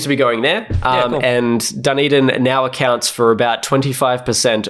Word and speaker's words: Dunedin: Dunedin. A lot of the funding seems to be going there. And Dunedin now accounts for about 25% of New Zealand studios.